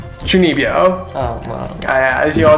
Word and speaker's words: Chunibyo: Chunibyo. Fuck, I said it wrong. Chunibyo.